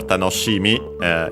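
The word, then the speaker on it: 楽しみ: By the way, the accent for tanoshimi is on the shi. is an exception because usually it would be accent on the last syllable, so be careful.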